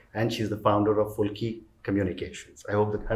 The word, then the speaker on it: Fulki: She's a change maker, and she's the founder of Fulki Communications. I hope that I have the pronunciation correct.